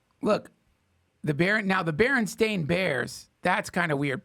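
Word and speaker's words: Berenstain: I mean, pronounce it's the Baron Stain Bears. It's spelled like Stain. It's not Baronstein.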